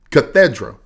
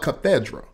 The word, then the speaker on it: cathedra: Cathedra. The English word, pronounced the same way, spelled with the C, is a bishop's official throne.